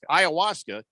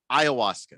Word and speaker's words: ayahuasca: Ayahuasca. And he said, hey, go ahead. Try to come at me on the what? Ayahuasca.